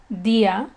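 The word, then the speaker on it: día: However, there are some words, such as rio, which means river, dia, which means day, and alegría, which means happiness, that, as you can hear in their pronunciations, they break this rule. Therefore, a written accent is required over the I.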